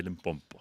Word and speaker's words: Limpopo: So Zulu people say Limpopo.